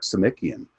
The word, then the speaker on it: Simikian: And then Chuck Simikian. It's like see Mickey again. It's the way that you pronounce his last name.